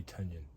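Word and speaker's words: Tynion: I hear it rhymes with onion. That would be Tanyion.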